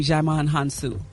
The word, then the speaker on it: Djimon Hounsou: Gary, Gary, you pronounce his name Djimon Hounsou, just so you know.